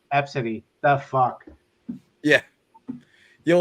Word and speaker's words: Abcde: I saw another name that's spelled ABCDE, and it's pronounced Absidy.